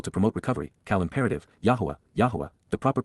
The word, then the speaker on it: Yahowah: to be acceptable to promote recovery, Qowl imperative, Yahowah, Yahowah, the proper pronunciation of the name of Eloah, God as